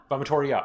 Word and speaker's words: vomitoria: Vomitoria. Okay. Actually, I guess it would be vomitoria. Yes, because the V is a W.